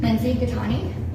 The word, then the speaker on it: Lindsey Gaetani: Spell it. Lindsay Katani.